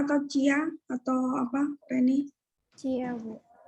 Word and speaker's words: chia: Bacanya chia atau cia atau apa, Reni?